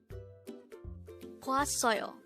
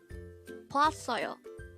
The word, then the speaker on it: 봤어요: 봤어요. 봤어요. This is pronounced as a three-syllable word.